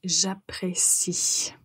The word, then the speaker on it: j'apprécie: s'agit du verbe apprécier donc quand vous le prononcer au présent n'oubliez pas de prononcer la lettre I j'apprécie cette phrase vous la retrouverez sous